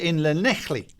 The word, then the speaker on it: Llanelli: Keith Gee is Llanelli. Have I pronounced that right? Matt Sims: You have.